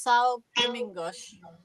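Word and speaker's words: São Domingos: have some pink fears forgive my pronunciation but i think believe it's pronounced sal gemingosh so it is out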